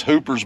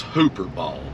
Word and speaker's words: Hooper Bald: This is Hooper's Bald. We'll get out and check it out. That was hooper bald. I I mis mispronounced it. I said hoopers. It's hooper.